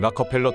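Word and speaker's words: Rockefeller: 다음은 헨리 포드의 티카와 석유왕 락커펠러, 통상 록펠러라고 발음하지만 이는 잘못된 것입니다.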